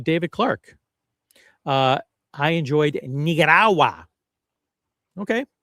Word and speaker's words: Nicaragua: And so, yeah, it's it's important to pronounce it properly. It's uh it's definitely pronounced Nigarawa just like Sumana and you got the Rolex Sumanna.